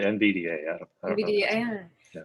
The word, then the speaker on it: NVDA: Popular screen readers include, is this pronounced NVIDIA? NVDA? I always say NVDA.